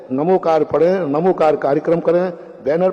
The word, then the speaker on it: णमोकार: दूसरे लोग नमो अरिहंत बोलेंगे उस पर कोई ऐतराज नहीं करना। वह उनकी परंपरा है। हमारे दिगंबरों को तो मेरा यही आगाज है। कि णमोकार मंत्र है। णमोकार पढ़ें।